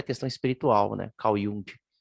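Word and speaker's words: Jung: à questão espiritual né Caiu essa é a pronúncia no canal e um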